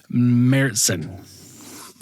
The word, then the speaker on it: Märzen: It is MARE Märzen is the correct pronunciation.